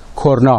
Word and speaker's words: کرنا: اصل به معنای شاخ تلفظ درست اون کرنا است نمونه دوم در فرانسه